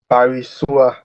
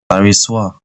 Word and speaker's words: Barisua: My name is pronounced Barisua. Barisua.